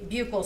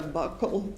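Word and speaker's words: buccal: the jury what a bugal swab is? So, a bugle swab or a buckle swab depending on different people say it different ways. It's spelled B U C C A L and that is a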